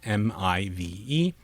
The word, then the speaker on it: MIVE: The pronunciation can be probed with MIVE, and the model should generate a pronunciation that rhymes with dive, not give.